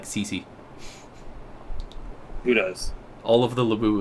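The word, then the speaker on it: Sisi: Yeah, there's a Cece, although it's spelled S-I-S-I.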